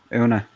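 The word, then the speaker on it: Oonagh: Una. Una? See, we look at we hear how you say it, and it's like, okay, why is there a GH then? It's silent.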